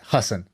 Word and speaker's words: Hasan: By the way, I think he pronounces it Hussen.